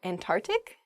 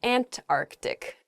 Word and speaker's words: Antarctic: the south is the Antarctic there's sort of like almost a hiccup in the word they're Antarctic oh uh in a sentence